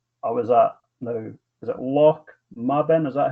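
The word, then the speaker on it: Lochmaben: Because on Saturday I was at is it Loch Maben? Is that how you pronounce it? Loch Maben, yeah.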